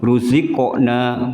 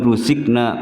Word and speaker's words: رزقنا: Ruziqna bukan ruzikna. Kalau ruzikna ini sudah salah hurufnya. Pakai kaf berarti.